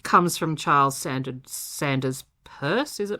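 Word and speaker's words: Peirce: It comes from Charles Sand Sanders purse. Is it purse?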